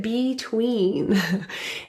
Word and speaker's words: between: The word between is pronounced with stress on the second syllable, tween. So that be prefix in this word can be reduced to an between.